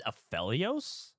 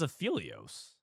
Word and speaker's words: Aphelios: Uh, Aphelios is a threat-like unit. He's a Targon champion, so if you get him early, he's strong. It's Aphelios. I thought it was Aphilios. It's like Elio.